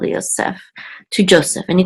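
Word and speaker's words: יוסף: And this is the accent or trope mark at the last syllable, Yosef, to Joseph.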